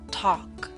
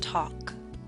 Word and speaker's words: talk: yawn boss taught gone talk note the L is silent and talk now I wish to